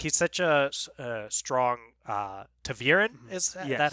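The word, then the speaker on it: ta'veren: It's like he's such a strong Taveren.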